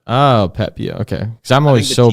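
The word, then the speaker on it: Pepiot: Basically, it's just like without the T, so it's like Pepio. Oh, Pepio.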